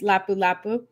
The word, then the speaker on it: Lapu Lapu: You pronounce it correctly. You must have ordered this many times. Lapu Lapu.